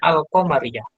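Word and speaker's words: القمرية: Singkatnya, Komariah itu apabila dia ditambahi alif lam di depannya, al, berarti dia bacanya al-Komariah.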